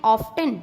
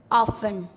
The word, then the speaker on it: often: OFTEN ऑफ्टन, नहीं नहीं, ऑफन।